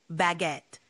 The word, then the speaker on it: baguette: saying uh how about baguette that's a d one it's pronounced almost like it looks baguette with a little emphasis on the second syllable give it a shot